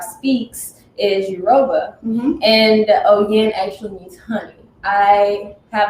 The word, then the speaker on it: OYIN: Tell us how you pronounce it. OYIN. So it's OYIN Organics. So let's say it again. OYIN Organics, right?